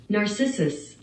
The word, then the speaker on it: Narcissus: looks maxing this is the whole story of narcissus is that how you say his name narcissus nailed it who just kept staring into the